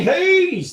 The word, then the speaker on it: Hayes: You got to say it right. Hayes, like you're singing Purple Haze.